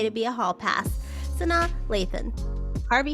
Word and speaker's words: Sanaa Lathan: Sanaa Lathan.